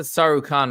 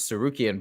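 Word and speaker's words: Tsarukyan: lightweight Contender Aran San so he pronounced it sarukhan I know he usually has the pronunciations right I thought it was cukan but uh John anik almost never gets named pronunciations wrong so but anyways AR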